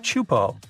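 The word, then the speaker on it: Teahupo'o: It's pronounced Chupo, and it means broken skulls in Tahesian. Yeah, you heard that right, broken skulls. The waves at Chupo are massive and can reach up to 23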